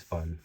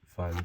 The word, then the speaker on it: Phun: oh also this is physics fun with bret fun spelled with p-h-u-n okay so we have